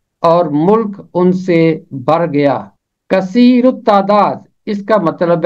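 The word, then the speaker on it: کثیر التعداد: इसका तलफ़ुज़ है कसीरुत तादाद, कसीरुत तादाद। हवाला है, इसराइल की औलाद बरोमंद और कसीरुत तादाद और फरावां और निहायत जोर आवर हो गई और मुल्क उनसे भर गया। कसीरुत तादाद, इसका मतलब है तादाद में ज्यादा, अक्सर।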